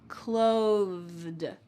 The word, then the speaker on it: clothed: When I say that TH, my tongue is going to come out of my mouth just a bit. Clothed, clothed.